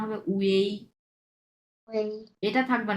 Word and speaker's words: ui: ইউআই থাকবে, শুধুমাত্র ইউআই থাকবে, বাট এটা উচ্চারণ হবে উয়েই, উয়েই, হ্যাঁ। এটার উচ্চারণ হবে উয়েই।